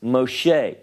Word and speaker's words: Moshe: In the case of Moses, his name in Hebrew is Moshe.